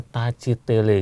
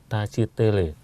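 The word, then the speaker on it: tashi delek: ya, terus sambil mengatakan, tulisannya tasidele tapi membacanya tacitele gitu, tacitele.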